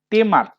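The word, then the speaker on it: tamer: দেখো অ্যাকচুয়ালি ঠিক খেলা বলা ভুল, অ্যাকচুয়ালি এটা টেমার, ট্যামার না, উচ্চারণটা হবে টেমার।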